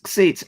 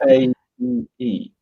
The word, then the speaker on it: Xate: It's Xate, Xate. If you type Xate, like that, and that's pronounced Xate.